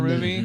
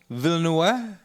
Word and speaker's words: Villeneuve: Runner, the last Yeah, Blade Denis Runner Villeneuve.